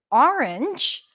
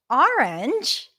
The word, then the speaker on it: orange: the in this word orange orange there are several pronunciations for this word we're going to focus on how she pronounces it with a bit of a rounded a sound Orange right have you